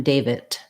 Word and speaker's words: David: never say that word i would never say that name with a t sound but what you might